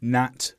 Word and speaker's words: gnat: But in one syllable words such as gnome, gnat, rain, where there's only one sound, one syllable, leave out the G.